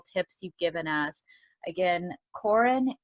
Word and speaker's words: Corrin: the really practical tips you've given us again coren cobin am i saying your name right coren the first name yes which is surprisingly because